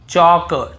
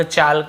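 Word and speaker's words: chalk: के पहले हो देखिए यहां पर भी हम टॉक टॉक वॉक वॉक चौक चौक यक यक फॉक फॉक ऐसे पढ़ कहीं पर भी टॉक वाल्क चालक यल्क फॉल्क नहीं पढ़ रहे लेकिन येय गलत बोल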